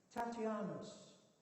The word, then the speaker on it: Tatian: Tatianus. The Americans pronounce his name Tatian, to rhyme with nation.